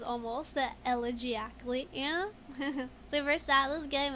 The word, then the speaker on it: elegiacally: He says almost elegiacally.